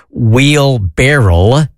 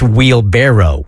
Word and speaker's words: wheelbarrow: I was corrected um I thought it was wheel barrel wheel barrel like a whiskey barrel no wheel barrel and it's wheelbarrow that's what I'm saying